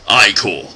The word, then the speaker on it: ichor: It's pronounced ichor.